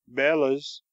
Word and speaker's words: bellows: I know a man who always calls them bellas, which is, I believe, the professional pronunciation.